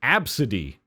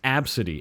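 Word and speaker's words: Abcde: no, her name is Absidy." And I spelt it that way because I'm her mom and I chose it that way. It's Absidy. A-B-C-D-E. It's pronounced Absidy.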